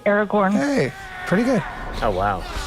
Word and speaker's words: Aragorn: Aragorn.